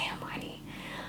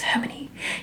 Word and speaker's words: Hermione: love her and and i used to pronounce her name emily eminini emily my only emini no it was harmony in my head am i his name